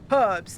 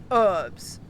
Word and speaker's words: herbs: or h a c at least we say h a c here like you actually put the emphasis on the h sound herbs not herbs uh biscuits and gravy